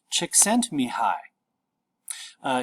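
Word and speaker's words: Csikszentmihalyi: pronounce this last name this last name is pronounced chick sent me high he wrote a book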